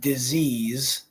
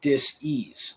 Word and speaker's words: disease: if you heard me I just said disease which is not really how it should be pronounced it should be disase disase so there's only one